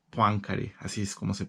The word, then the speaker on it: Poincaré: Bueno, que me parece que el francés original es Henri Poincaré. Poincaré, así es como se pronuncia, pero nosotros lo vamos a pronunciar tal y como se escribe.